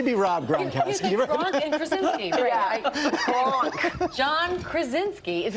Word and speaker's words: Krasinski: So your husband, actually, John Gronkowski, who everybody... Oh, that is Gronkowski. That was an interesting pronunciation. Maybe he wants to be Rob Gronkowski. Gronk and Krasinski.